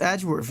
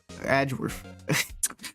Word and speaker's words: Edgeworth: It's Edgeworth.